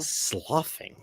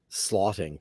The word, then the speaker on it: sloughing: Sloughing. Sloughing. Blah. And I always thought it was slotting because it's like draft. Because it's SLOUGHT.